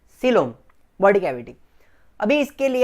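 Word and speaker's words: coelom: उसका स्पेलिंग कोइलोम जैसा दिखता है, लेकिन क्या बोलेंगे? सीलोम, body cavity.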